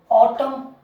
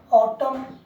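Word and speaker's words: autumn: जैसे ऑटम, इसको क्या बोलते हैं हम? ऑटम। ऑटम, एन साइलेंट रहेगा।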